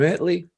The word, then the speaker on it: Italy: chat anyway I it's spelled Italy but it's pronounced Italy it's the interesting town of former Cowboys defensive